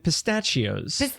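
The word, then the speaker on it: pistacchio: of statues and pistachios. Pistachio. Pistachios. Pistachio. Pistachios is the cereal they were selling. No. They had pistachio. Pistachio. Right, because the CCH is pronounced like a K.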